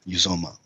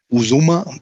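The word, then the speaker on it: Uzomah: making up my name it's uzoma uzoma uzuma no it's uzoma yeah the odds are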